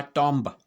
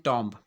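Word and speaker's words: tomb: ये भी हमने देखा होगा, टॉम्ब। इसको हम क्या बोलते हैं, टॉम्ब, जिसका मतलब क्या होता है, समाधि या मकबरा। ठीक है ना, ये भी नाउन है, जबकि इसका सही उच्चारण क्या है, टूम। टूम, इट्स टूम।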